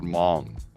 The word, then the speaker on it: Hmong: They're called Hmong, right? HOMG. Han, you mean, or Hong? No, the H is silent.